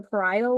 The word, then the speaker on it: parietal: The first one is frontal lobe, and then the back is occipital lobe, and then we have parietal. I'm not. I don't think I'm saying it right. Parietal, yes, but very close.